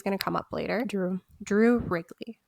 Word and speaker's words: Wrigley: US attorney Drew Wrigley, remember his name, he's going to come up later. Drew Wrigley, like the gum.